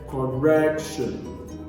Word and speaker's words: correction: What about correction? The primary stress is placed on the second syllable, which is correction.